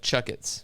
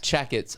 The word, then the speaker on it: Chakits: like chuck it's yeah chucketts chucketts not jackets i mean if you read it would be pronounced jackets jackets but just throw